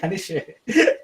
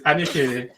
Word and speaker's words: Anisere: Anisere. I think that's how you taught us to pronounce it the last time.